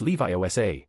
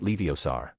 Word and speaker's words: Leviosa: It's Levi Osa, not Leiosar.